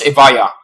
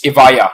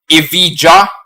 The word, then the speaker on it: Evija: I know it's British, but then Britain has a history with Vikings, so the letter J can be a letter Y. So therefore, it's Evija. That's the correct way. It's Evija or Evija.